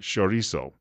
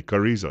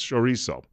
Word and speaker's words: chorizo: Now, Benito tells me that I've got to pronounce it chorizo, even though when I look at it, being an English-speaking person, I say chorizo. He says, no, it's chorizo.